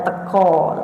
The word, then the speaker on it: teka: Teka itu bacanya teko, tulisannya teka. Teko.